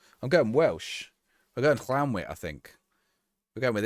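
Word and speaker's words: Llantwit: But Llanwit is the only place in Wales to not be pronounced with the clan. Really? So it is Llanwit.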